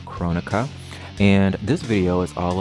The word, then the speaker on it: Kronika: a video about chronica that's the correct and proper way to pronounce her name Kronecker and this video is